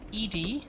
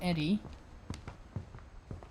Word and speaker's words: Edie: is wow very lovely Edy so not Eddie that's how you pronounce that name okay controller with the